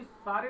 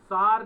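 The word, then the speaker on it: Tsar: बुरा होगा त हो सार निकोलस इसे सार पढ़ते थे टी साइलेंट रहता 1914 में रूस और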